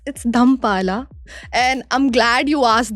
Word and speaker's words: Dhammapala: And how we pronounce it like Dhampala. It's not Dhammapala, it's Dhampala.